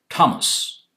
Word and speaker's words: Thomas: For example, Thomas is T. TH is written with TH, but it's pronounced as Thomas, etc.